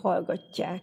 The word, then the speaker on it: hallgatják: olvad összekiejtésben nézzük például a hallgatják szót ugye itt tjé találkozásáról kell most beszélnünk hiszen itt van az a másangzó törvény amiről most szó van az összeolvadás a t-ből plusz a j-ből kiejtésben keletkezik egy kettőzöt t van itt még más